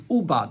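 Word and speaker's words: עֻבַּד: It's written without a vav, so you can read it as ovad, that you did not do. But the way you pronounce it though is ubad, as if it's written with a vav, that work was not done with it.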